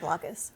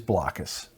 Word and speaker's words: Blokus: I think Blockus. I pronounce it Blockus too.